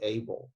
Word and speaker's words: able: it, in that case, the E is not silent, because that letter combination LE is pronounced L.